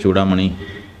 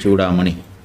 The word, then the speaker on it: चूडामणि: नाम है विवेक चूड़ामणि उच्चारण में थोड़ा समझना है विवेक चूड़ामणि हम लोग एक उच्चारण करते हैं चूड़ा ड़ा लेकिन यह जो ड और ढ हिंदी के अक्षर हैं यह संस्कृत में नहीं है सड़क इस सड़क में जो ड़ बोल रहे हैं हम लोग यह संस्कृत